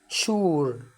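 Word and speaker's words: sure: يبقى هنا الاس يو هتنطق شين زي كلمه شوجر يعني سكر، مش هنقول سوجر غلط، شوجر. شور يعني اكيد.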